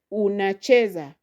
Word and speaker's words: unacheza: So you will stress there on chee. Unacheza unacheza unacheza. So you see it will be different if you said unacheza. So you say unacheza.